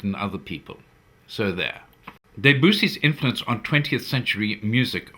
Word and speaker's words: Debussy: greatest composers ever is Claude Debussy, or, as my wife prefers to pronounce it, Debussy. She says that is the way the French pronounce it.